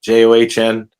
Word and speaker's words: John: John, the H is silent, John.